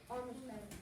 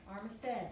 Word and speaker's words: Armistead: Armistead. Armistead, not Armstrong.